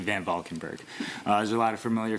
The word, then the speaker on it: VanValkenburgh: Valkenburg, you have 2 minutes. Hey everybody, I know it's a hard name to pronounce, but it's actually VanValkenburgh.